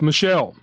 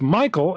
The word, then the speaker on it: Michael: adamant it was pronounced Michelle mom bemused said something along the lines of it's literally a name from the Bible it's pronounced Michael and has been pronounced Michael for thousands of years the receptionist sat